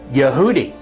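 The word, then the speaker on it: יהודי: transliterated in Hebrew for Jew in English is pronounced yehudi and the word Jews is yehudim and so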